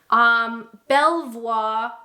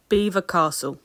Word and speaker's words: Belvoir: Belvoir. That's too French, isn't it? Belvoir. Belvoir. Belvoir Castle. Beaver Castle. No. Beaver Castle. Beaver Castle.